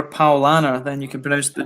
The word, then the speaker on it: Paulaner: night it's for Lana Paulaner but whatever anyway I've got that the next well you can just remember Paul Anna then you can produce